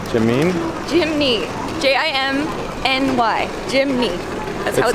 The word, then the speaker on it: Jimny: it Jimmy Jimmy Jimmy ji m NY Jimmy that's not up Jimmy no it's jiminy GMC makes Jimmy's that's a Dookie Chelsea told me I read the name wrong and it's Jimny like chimney I don't know man